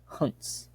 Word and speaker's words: Junzt: Authored by Friedrich von Huntz. I think that's how you pronounce it. It's spelled Junzt.